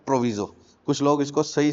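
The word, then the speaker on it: proviso: प्रोविजो। कुछ लोग इसको सही से प्रोनाउंस प्रोवाइज़ो भी प्रोनाउंस करते हैं।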